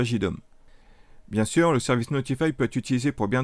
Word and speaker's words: ntfy: directement sur son acinologie notify qui s'écrit ntfy une solution open source